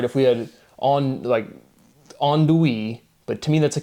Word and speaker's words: andouille: take a word like andouille, and it's just like that pronunciation, it makes sense, right? You get the on, do, e, but it's like, why is the l off?